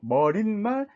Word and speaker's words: 머리말: 근데 일상생활에서 우리는 머리말, 인사말 이렇게 발음하지 않고 머릿말, 인사말 이렇게 니은음을 첨가해서 발음하는 사람들이 굉장히 많거든요.